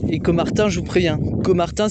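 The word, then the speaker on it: Caumartin: Et Comartin, je vous préviens, Comartin, ça s'écrit Cau c'est pas CO en fait. Donc c Au m a r. Pass au M TN donc com Martin avec un A et un U.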